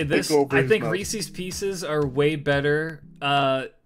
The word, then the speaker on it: Reese's: first day of orientation they're like it's Reese's Reese's if you're going to work here say it right damn and everyone walks